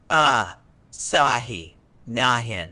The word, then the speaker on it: asinine: I El's examiners today we're exploring the word asinine a powerful addition to your lexical Arsenal for achieving that coveted band score of 9.0 word type asinine is an adjective it's pronounced ah sah nahin with the stress on the second syllable meaning